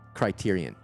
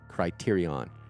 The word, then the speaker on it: Criterion: Criterion. Tyrion. Criterion. C R I T E R I O N. Like Criteria but without the A at the end. O N at the end. Criteryion.